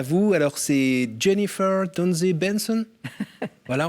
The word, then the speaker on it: Donzé Benson: Grâce à vous, alors c'est Jennifer Donze Benson. Voilà, on prononce comme ça avec l'accent pas tout à fait suisse. Hein. Donze Benson.